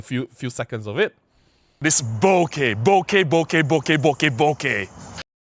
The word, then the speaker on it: bokeh: I didn't say bokeh, because they say it rhymes, the way I say it rhymes with okay. Okay? Like, are you okay? I didn't say bokeh, I said bokeh. Bokeh, bokeh, bokeh, bokeh, right?